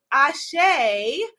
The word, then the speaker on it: Asé: just joining me for the first time ashay spelled some people spell it a-s-h-e some people spell it a-s-e with